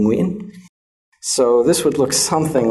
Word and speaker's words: Nguyen: Although in Vietnamese, it can occur in the beginning of a word, as in Nguyen, right? Nguyen. And this is one of the most difficult words for foreigners to say, the name Nguyen.